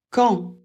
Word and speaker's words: quand: tu travailles où quand pour un moment pour la prononciation a et n ça fait en le Q ça fait toujours le son K et on ne prononce jamais le U on ne prononce pas